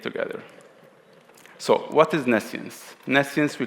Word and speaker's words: Nescience: best but it's like Nessian state separation architecture uh and it enables um selective privacy I will go through selective privacy later uh the pronunciation is nessian so nessian actually means